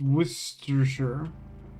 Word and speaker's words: Worcestershire: Worcestershire sauce is just pronounced Worcestershire. That's what I said it the same way both times, Nick. It's like the town in Massachusetts, Worcester.